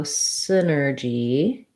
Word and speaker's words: synergy: um so synergy um first syllable stress the y is just an if sound so you could respel it like sin with a letter i um sin or g i'm going to rewrite the j or the j sound that's spelled with letter g as a j here because that's how